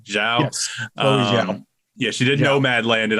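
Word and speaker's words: Chloé Zhao: and the directing pedigree of, how do you pronounce her name? Chloe Zhao? Yes, Chloe Zhao.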